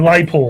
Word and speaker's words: Les Paul: A Les Paul. The S is silent, you know.